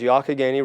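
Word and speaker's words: Youghiogheny: it's sort of a challenging spelling but the pronunciation is yaka Gainey river is a tremendous white water resource one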